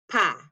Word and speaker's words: Pie: the book is called pie now listen it's pi because you see this e at the end makes the vowel say its name so it's i the